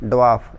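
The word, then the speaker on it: dwarf: जब बाकी जो बच के जैसे छोटे ऑब्जेक्ट्स हो गए, जैसे ड्वार्फ प्लैनेट्स, ड्वार्फ जैसे इसके अंदर आर साइलेंट होगा, ड्वार्फ प्लैनेट्स, इनको हम बोलते हैं बोना ग्रह।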